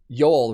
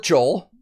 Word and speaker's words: Joel: ] that up because usually with scandinavian languages you pronounce the j's as y's for english speakers and i really really wanted to say yol right there but i've seen interviews where he says joel so a lot of